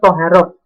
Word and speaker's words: taharah: Nah, di dalam fikih tadi dibahas tentang bab yang berhubungan dengan ibadah kita, yaitu yang pertama, bab pertama yaitu toharoh. Anak-anak tulisannya taharah, membacanya adalah toharoh.